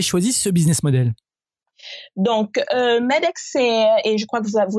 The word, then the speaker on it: MEDx: Et alors justement, passons un peu alors à votre projet Medix ou Medex, je ne sais pas comment le prononcer correctement. Medex, absolument.